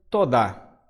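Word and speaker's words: תודה: em qualquer língua a palavra obrigado é se pronuncia tô dar aliás o seguinte viu vocês que estão enxergando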